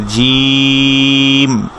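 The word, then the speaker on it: ج: Lesson 16 হচ্ছে জিম। যখন আমরা শুধু হারফটা পড়বো হারাকা ছাড়া, যদি হারফটা পড়ি শুধু, জিমের নুকটা হচ্ছে নিচের দিকে আর জিমে বাতাস বন্ধ থাকবে, জিম, জিম, জিম।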